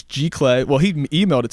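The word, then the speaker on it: giclée: and I'm like hey I'm here for my Jack Lee pieces and he's like it's pronounced G clay it's museum quality archival paper it sounds good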